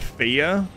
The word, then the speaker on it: Fage: I get sometimes and it's pronounced fya but it's you know F A and on the